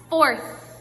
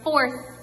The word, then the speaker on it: fourth: you say it one fourth now make sure you're not saying one four you're saying one fourth with a th when you see a